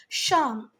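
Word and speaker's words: Psalm: किया उसको बोलते थे शाम ठीक है यहां पर पी साइलेंट है बेटा शाम इट हेल्प पॉपल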